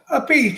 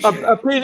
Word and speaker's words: Appice: How does she pronounce it? Appice. Appice, Appice.